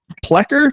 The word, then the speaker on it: Plekker: Pleer.